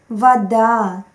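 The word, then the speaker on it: вода: there is just tendency stressed vowels are always pronounced clearly muskvar vada but unstressed vowels are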